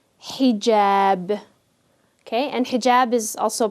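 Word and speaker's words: حجاب: The ha has a kasra, so it's going to be he, hijab, hijab.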